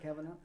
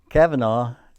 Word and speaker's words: Kavanaugh: do you pronounce it, Kavanaugh? Well, I believe Kavanaugh is the way most people say, but he said Kavanaugh.